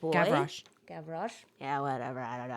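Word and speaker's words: Gavroche: But in Victor Hugo's novel he has Javro that little boy Gavro.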